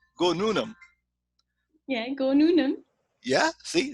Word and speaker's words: Noonum: did you call your company like this yeah nunam is a sanskrit word it means for the future and it's also a two-syllable word that anybody can pronounce very easily right why don't you say go noonan yeah go noonan yeah see it's that easy